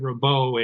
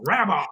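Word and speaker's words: Rabaut: and the relationship and I pronounced it rabo and he said it's rabba and his so nice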